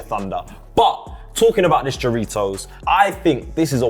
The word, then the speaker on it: Jarritos: Jarritos, fam.